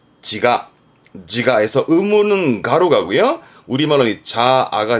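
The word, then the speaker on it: 自我: 발음은 지가에서 의무는 가로 가고요.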